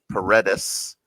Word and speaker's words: Paredes: Well, when you tell other people how to say it, if you can say red, Paredes, and if they can't roll their R's, they can't roll their R's.